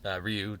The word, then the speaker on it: Ryu: Ryu, depending on the pronunciation. You like to go Well, with, and then I mean, Ryu is the correct way of saying it. Like, I I know we want to say Ryu, but it's Ryu.